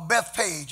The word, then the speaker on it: Bethphage: And now, in verse 1, we see where they were in Bethphage, or Bethpage, as some pronounce it, Jerusalem and Bethany.